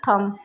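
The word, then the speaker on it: thumb: Next है थम, यहाँ पर भी बी लास्ट में आया, उससे ठीक पहले एम आया, तो यहाँ पर बी का प्रोनाउंसिएशन नहीं होगा, इसको बोलेंगे थम।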